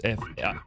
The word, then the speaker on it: Faivre: Yeah, it is Florence Favre. I'm assuming that's how you pronounce it. It's Faivre. Clearly French.